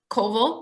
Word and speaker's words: Coville: an audiobook narrator with Bruce Coville, rhymes with Oval, and Rebecca Soler.